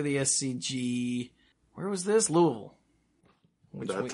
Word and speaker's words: Louisville: You have to say it with as little enunciation as possible.